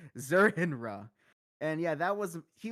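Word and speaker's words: Zur-En-Arrh: faith uh let's see Marty says zerner is also an ultra personality of Batman that's how you pronounce it zurinra and yeah that was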